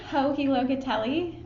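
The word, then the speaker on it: Joji Locatelli: Hohi Locatelli.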